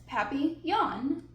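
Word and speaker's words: papillon: hope we get a papon that like our neighbor's dog you say it like this papy yaan in French it means butterfly I help M Mrs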